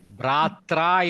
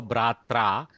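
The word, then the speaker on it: भ्रात्रा: Bratra is correct. Repa changing r to repa combines with a. So Bratra.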